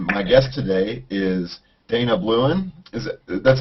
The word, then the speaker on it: Blouin: And my guest today is Dana Blouin.